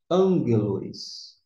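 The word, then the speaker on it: ἄγγελος: nós temos uma nuance Nós temos dois Gama esses dois Gamas que representa 2G Se a gente fosse pronunciar com 2G ficaria Mas acontece que quando tem dois Gamas esse primeiro aqui vai ter um sol nasal de n desta maneira ficará a pronúncia angelos mensageiro que muitas vezes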